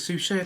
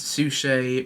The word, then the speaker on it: Suchet: I've seen a couple of episodes here and there of the David Suchet, I think it's Suchet, that's how I pronounce his name, the David Suchet pro series.